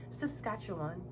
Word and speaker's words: Saskatchewan: I learned to pronounce it. Saskatchewan.